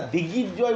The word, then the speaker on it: দিগ্বিজয়: কথাটাই আমি বলবো, যে এখানে প্রথমের বানানটা দেখবি দিগ্বিজয়ও করা যায়, দিগ্বিজয় একসাথে যুক্ত আছে। দিগ্বিজয় কিন্তু নয়, যদি উচ্চারণ কোথাও থাকে না, দিগ্বিজয় বলে কিছু হচ্ছে না, দিগ্বিজয়।